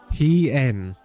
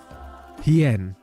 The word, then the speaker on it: Hien: He-en. He-en. N? Hien. Hien. Like Ian. Hien. Hien. Is that right? Yes. He-en is here. Oh, it's a she. Nice. Nice. The Ami are merciful! My lord Hien, I see you are alive and well.